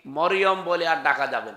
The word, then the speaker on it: মারিয়াম: না, তাহলে গোনা হবে, মারিয়াম বলা লাগবে। কি কথা বুঝতেছেন? কি বলা লাগবে? কারণ এই শব্দটা আল্লাহ কোরআনে দিয়েছেন, একটা সূরায় নাজিল করেছেন, সূরা মারিয়াম। আপনার 40টা নেকি হবে এই শব্দটা উচ্চারণ করলে। মিম র ইয়া মিম, মারিয়াম। 40টা নেকি পাবেন। আর যদি মরিয়ম বলেন 40টা গুনাহ হবে, কারণ অর্থ বিকৃত হয়ে গেছে।